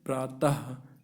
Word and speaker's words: प्रातः: जैसे प्रातः, लास्ट में क्या, डबल बुंदी है, लेकिन उच्चारण किसका हो रहा है, हा का, प्रातः, अतः।